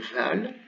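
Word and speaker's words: ذال: L'autre, c'est un zal, donc c'est le dal avec un point. Il se prononce comme en anglais this.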